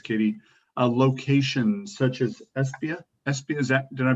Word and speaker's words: Esbjerg: A location such as Esbjerg. Esbjerg, is that? Did I pronounce that correctly, Charlotte? Esbjerg.